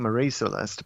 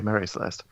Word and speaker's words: Mary Celeste: people at the time who are pronouncing marie celeste but it's more proper to say mary celeste um yeah just a